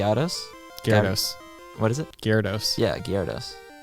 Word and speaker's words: Gyarados: earlier like I don't even know how to pronounce this Jerry Attis Garris what is it Gyarados yeah Gerardus not even remember what that was